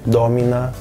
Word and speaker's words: domina: As palavras podem ser proparoxítonas, quando a sílaba está mais longe do fim da palavra, mas isso só pode ser no máximo a antepenúltima sílaba, assim como em português. Então serão palavras como dominus, domina em latim, dentre muitas outras.